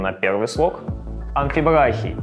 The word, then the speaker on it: амфибрахий: Дактиль с ударением на первый слог, амфибрахий с ударением на второй слог и анапис с ударением на третий слог.